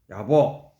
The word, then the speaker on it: 야보: 여기에는 해능, 우리가 잘 아는 해능, 야보, 한문으로는 야부라고 쓰는데 이름에 부자가 들어갈 때는 야보라고 읽어야 된다거든요.